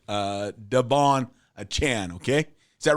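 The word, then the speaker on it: Achane: I'm going to say his name as Devon a chain achan achan our producer here Jensen he he knows how to pronounce his names and he's telling me it's uh Devon achan okay is that right is that right Jensen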